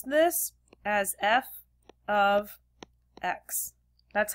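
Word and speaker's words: f(x): and look at this notation right here we pronounce this as f of x that's how you pronounce it it's not f x x it's not F parentheses x it's f of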